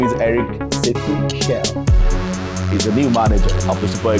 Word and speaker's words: Chelle: A Frenchman told me it's Chelle. It's Chelle. Yeah, Chelle. It's Chelle. We said Chelle.